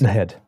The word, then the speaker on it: Naheed: This is from Naheed Nenshi. I say his name wrong. It's not Naheed. It's Naheed. Naheed.